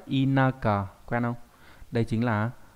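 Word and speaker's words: 田舎: Điền xá không đọc là đền xạ mà đọc là inaka, quen không?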